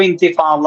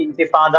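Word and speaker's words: انتفاضة: നമ്മൾ കേൾക്കാറ് ഇൻഫാദ എന്നാണ് അത് കാര്യം ഇംഗ്ലീഷിൽ നമ്മൾക്ക് ളാദ് എന്ന അക്ഷരം ഇല്ലാത്തതുകൊണ്ട് അവര് ഇന്തിഫാദ എന്ന് എഴുതി വെക്കും ളോദ് എന്നുള്ള പദം നമ്മൾ ട്രാൻസ്ലേറ്ററേറ്റ് ചെയ്യുകയാണെങ്കിൽ ഡി എച്ച് എന്ന് കൂട്ടിയിട്ട് ട്രാൻസ്ലേറ്ററേറ്റ് ചെയ്യാൻ പറ്റും ട്രാൻസ്ലേറ്ററേറ്റ് അപ്പൊ ഇന്തിഫാദ എന്നുള്ള ഉച്ചാരണം കിട്ടുകയും ചെയ്യും നമ്മുടെ നാട്ടിൽ ശീലം വന്നത് ഇൻഫാദ എന്നാണ് നഫദ എന്ന വാക്ക് ശരിക്ക്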